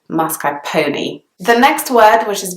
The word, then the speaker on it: mascarpone: people pronounce it mascarpone some people pronounce it mascarpone and the pronunciation that's kind of most commonly heard in the UK in British English is mascarpone the next word which